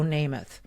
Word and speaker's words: Namath: The first time I met her, she said, "Michele, it rhymes. It sounds like Joe Namath."